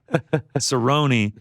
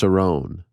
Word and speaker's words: Cerrone: went back to lazar cerrone seven first-round finish losses including three of his last five losses it's actually pronounced sarone people used to call